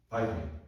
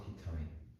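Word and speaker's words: vitamin: 바이타민. 예. 옛날에 뭐라고 했을까? 비타민. 똑같은 말이야. 맞잖아. 프리온, 프라이온. 원래 I가 발음표가 맞아요.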